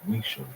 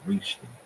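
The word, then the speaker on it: Richelieu: Louis the 13th and Cardinal Rish which I have been pronouncing incorrectly it's Rish not reach but of course that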